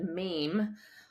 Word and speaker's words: meme: the word meme from she coined that because it sounds like the word Gene but it's Meme and that uh you